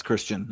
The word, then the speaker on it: Christian: Yes, Christian. I hope I'm saying your name right. Yeah, the Canterbury scene. I believe it's pronounced Christ Ian.